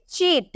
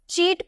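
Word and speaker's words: cheat: में प्रोनाउंस करते हैं लेकिन जब हम इसे चीट क्या सी एच ई ए टी चीट लिखते हैं तो हम इसे चीट प्रोनाउंस करते हैं या जो आप सी जो लिखे है इसके जगह आपको च प्रोनाउंस करना होता है तो जब हम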